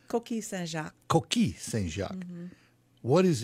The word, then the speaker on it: Coquille Saint-Jacques: So let us begin with, is it Coquille Saint-Jacques? Mm-hmm. That's correct? I said it right? Pretty close, yeah. It's Coquille Saint-Jacques.